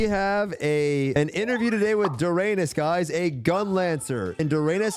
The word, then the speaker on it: Doranis: really matter, but like everyone's like saying Doranis. Like I don't fucking care, but like I had a native Korean friend who like pronounce it like a certain way, and I kind of like that pronunciation. She pronounced it like Doranis.